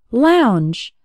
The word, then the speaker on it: lounge: words like and Lady the o u has an ow sound like in the words how or loud and the letters NG